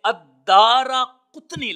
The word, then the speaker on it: الدارقطنی: الانساب میں لکھ دیا کہ یہ الدارقطنی لفظ ہے، لہٰذا را کے اوپر زبر پڑی جائے، را کے اوپر پیش یا زیر نہ پڑی جائے، الدارقطنی نہ پڑھا جائے اور